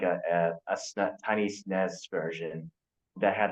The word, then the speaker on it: SNES: There was like someone at MagFest selling like a tiny SNES version that had like I don't know how